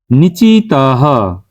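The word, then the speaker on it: নিচিতঃ: লিখলেই হবে তারপর নিচিত নিচিতাহ মানে যেখানে বিসর্গ থাকে উচ্চারণটা কিন্তু অনেকটা হ এর মত হয় সেজন্য এরকম উচ্চারণ করছি তো এই নিচিত শব্দের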